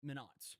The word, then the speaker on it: Minot: Minot. I keep pronouncing the name differently of the place.